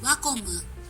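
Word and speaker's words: Wacom: Wakamu. I just want to say that brand name in Japanese because I made the effort to look up its pronunciation. On for a vote. Wakomu.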